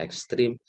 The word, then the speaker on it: ekstrem: Bacanya ekstrim, tapi nulisnya ekstrem.